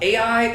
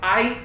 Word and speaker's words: Ai: And then they conquer another city called Ai, or I. It's just pronounced, like it's spelled out Ai in English, right?